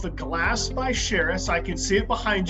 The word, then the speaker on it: Charis: Charis, like Paris.